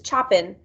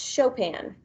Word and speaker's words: Chopin: is frederick chopin and i know it looks like it says choppin but it's really pronounced chopin he was born march